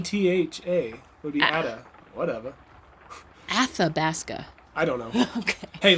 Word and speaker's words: Athabasca: There's no D there. Athabasca. Where do you see a D? Where am I saying a D? Athabasca is what you're saying. ATHA would be Ada. Whatever. Athabasca.